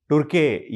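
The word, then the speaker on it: Türkiye: म्हणजे आता तुर्कीला तुर्की न म्हणता तुर्के असं म्हणायला पाहिजे असं त्यांचं म्हणणं आहे आणि याचं स्पेलिंग आहे TURKIYE.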